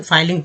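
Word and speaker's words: filing: तो देखिए, ये फिलिंग अगर होता, जब डबल एल यहाँ रहता तो फिलिंग रहता है, लेकिन डबल एल नहीं है, तो अब इसे फाइलिंग पढ़ेंगे, ठीक है। फाइलिंग में एफ से फ होता है, आई का उच्चारण जो है आई के रूप में हुआ, आई, तो हो गया फाई, एफ आई से फाई हो गया।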